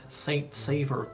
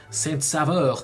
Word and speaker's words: Saint-Sauveur: Number 7, we can say it like Saint-Sauveur, Quebec, but we can also say it like Saint-Sauveur, Quebec.